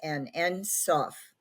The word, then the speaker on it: Ein Sof: Now, before I go more into that, I want to mention that the creator in the Kabbalah is called Ein, or actually it's pronounced En Sof.